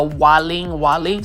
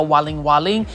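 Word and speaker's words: Waling Waling: should look for is what they call the Walling Walling so I'll spell it for you w a l i n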